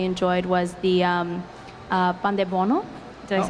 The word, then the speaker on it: pandebono: I think another thing that my dad really enjoyed was the um, uh, pandebono. Did I say it right? Yeah, pandebono.